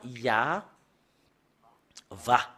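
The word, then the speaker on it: יהוה: Et on le prononce avec le terme Ya, Va.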